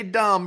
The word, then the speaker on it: dumb: Something I want to clarify real quick is when you say dumb, remember it's spelled with a B at the end of it.